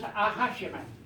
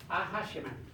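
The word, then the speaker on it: Acjachemen: name myself for minute this name here is pronounced aashim aashim that's the name of the native people who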